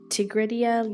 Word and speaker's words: Tigridia: It's pronounced Tigridia, like the flower, but is fine.